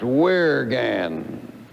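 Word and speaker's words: wyrgan: old anglo-saxon word called spelled w-y-r-g-a-n which i would imagine might be pronounced where again and what does that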